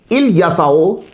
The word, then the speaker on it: الیسع: کی آیت نمبر 48۔ اس کے مختلف تلفظ ملیں گے آپ کو، الیسع، الیسع، الیشع۔ الکسائی کی قرات میں